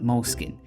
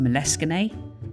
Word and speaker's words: Moleskine: looks a little bit like moleskin someone told me once that should be pronounced moleskine he's great fun at